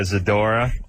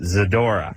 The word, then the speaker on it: Zadora: But when you say her name and you just hear her name said and you never see it read, it sounds like P. Isadora.